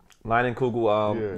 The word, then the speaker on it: Leinenkugel: Leinenkugel.